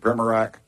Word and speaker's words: Primorak: How do you say that? Primorak? I got, man. Nobody gets mine right, so don't worry about it. What is it, Primorak? Perfect.